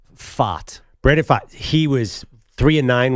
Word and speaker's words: Pfaadt: It's spelled PFAADT. If Travis Kelce stops doing the Pfizer ads, Pfaadt PF for Pfizer.